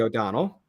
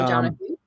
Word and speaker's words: O'Donoghue: firms and media experts, O'Donnell. Yeah, O'Donoghue. O'Donoghue. Sorry, I'm reading it and I even mispronounced it.